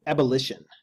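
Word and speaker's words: ebullition: same moment the m ebullution i'm gonna have to look that word up i don't even know how to say it hold on one second apparently it's abolition the action of bubbling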